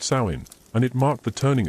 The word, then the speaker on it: Samhain: It was called Samhain, pronounced sain, and it marked the